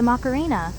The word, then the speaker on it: Macarena: But the macarina, pronounced just like the song belted by a local